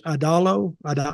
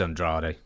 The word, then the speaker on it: Andrade: So I think you say his name is Adalo? Is that how you say his name? Yeah, just Andrade. Andrade.